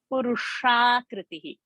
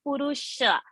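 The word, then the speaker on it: पुरुषाकृतिः: And the last word, Purushakritihi, not Purusha, Purushakriti. It's not Purusha, Purusha, Purusha, Purushakritihi.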